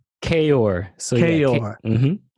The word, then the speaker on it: Kaoir: Kior? Kior.